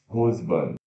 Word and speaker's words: husband: Husband, Eu sei que tem um S aqui, mas se pronuncia com som de Z, husband, marido.